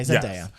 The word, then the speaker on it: Zendaya: Okay, Zendaya.